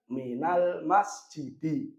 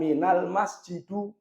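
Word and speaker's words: من المسجدِ: Maka bacanya minal masjidi. Bukan minal masjidu. Bukan minal masjida.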